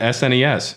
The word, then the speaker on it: SNES: I've always pronounced it s NES never realized people said SNES as a word sounds strange to me